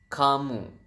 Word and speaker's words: kamu: u is kamu so Ka and moo so you have kamu and then how do you